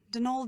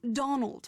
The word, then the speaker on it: Donal: that was the caretaker Donal Delany not Donald mind you there's no D at the end so it's pron anounced denal that's the way you're supposed to spell it which is to say that's the way the Irish spell it proud of his